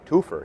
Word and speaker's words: Toopher: like how it's yeah it's got uh twofer but it's spelled differently than the twofer you might think correct people associate with